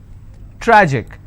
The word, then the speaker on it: tragic: Tragic, tragic, I will stress on tra.